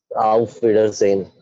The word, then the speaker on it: Auf Wiedersehen: Correct pronunciation. How do you read this? Auf Wiedersehen.